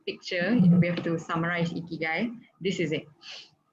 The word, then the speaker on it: Ikigai: is called Ikigai, or if I'm pronouncing it right in the Japanese way, it is a Japanese word. It's pronounced as Ikigai.